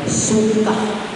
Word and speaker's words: sukkah: Ya, Sukkot ya bisa dilihat itu berasal dari kata Ibrani sukah. Suka, hurufnya H terakhir ya, bacanya suka. Kalau kata Ibrani kalau terakhir H ya, he, suka, kita baca suka.